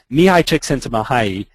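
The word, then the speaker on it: Mihaly Csikszentmihalyi: I'll give you five bucks if you can pronounce that he is a Hungarian professor at Claremont College in California now mihai checks into mahayi it took me weeks to learn to say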